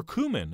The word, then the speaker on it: cumin: We will also go ahead and add some ground cumin, or cumin as some people pronounce it. That depends on where you're from.